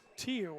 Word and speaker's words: Tiu: Tiu, I believe they called it. So Viliami Tiu. So now we got a correct pronunciation there.